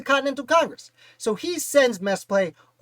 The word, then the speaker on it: Mesplet: I believe his name is pronounced Mesplet. It might be Mesplet. Let me know in the comments if I'm doing it wrong, but Mesplet was born